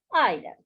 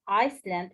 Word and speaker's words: island: Island. An island, don't forget that S is silent. Don't read it Iceland, it's wrong.